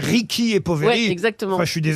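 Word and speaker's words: Ricchi e Poveri: de hasard un peu Julie me dit qu'il faut dire Ricky et poveri on entendait les animateurs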